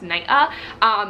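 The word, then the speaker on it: Naiʻa: Legally, my name is spelled N-A-I, Okina A, and it's actually pronounced Naya. It's Hawaiian, I'm Hawaiian.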